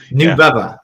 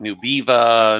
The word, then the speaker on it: Nubeva: about it it sounds like a soft drink new bubba it sounds like a like what tell me